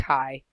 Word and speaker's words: chi: use that Greek letter it looks kind of like an X but it's pronounced a chi and one interesting thing